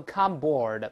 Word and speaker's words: cupboard: 我们再读一下后面这个壁橱，先读第一个 cupboard，cupboard，不要读 cupboard，不这么读啊，再来一遍 cupboard。